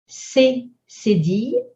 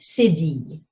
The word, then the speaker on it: cédille: We have cédille, we have accent aigu, accent grave, accent circonflexe, and we have tréma. When you see these, when you want to spell them, here's what you'll say. C, cédille.